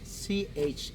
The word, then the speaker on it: Chan: And as a funny fact, one of the most common last names is Chan, Chan, like Jackie Chan.